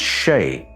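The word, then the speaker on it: sídhe: It's pronounced She, but it's spelt very close to Sede, and it refers to the interaction between the spirit world and the material world.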